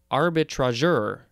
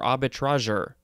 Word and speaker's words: arbitrageur: So this one is pronounced, I guess, arbitrageur or arbitrageur.